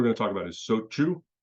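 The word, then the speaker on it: shochu: But sochu is another example. It's not so chu, it's sochu, and it's kind of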